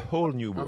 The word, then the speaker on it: A Whole New World: A whole new world.